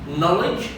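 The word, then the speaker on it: knowledge: الشواذ اللي هي يتواجد بها حرف الكي ولكن لا يلفظ. على سبيل المثال عندنا كل كي، طبعا كقاعده كل كي يجي وراها حرف الان تعتبر الكي هي مجموعه خاليه لانها لا تلفظ، والكلمات التي يتواجد كي وراء حرف الان مثل هذه الكلمات. نايف، اذا نلاحظ باللون الاحمر اللي كتبته اني لانه حرف الكي هنا عندنا ما يلفظ، اذا نايف، نو، نولج، ني، ونايت، والاخيره اللي هي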